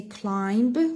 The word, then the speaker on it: climb: We don't say climb, we say climb. So we underline B.